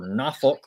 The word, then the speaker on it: Norfolk: Troy travels to Norfolk or Nafolk if you locals say it, uh, to take on ODU Thursday.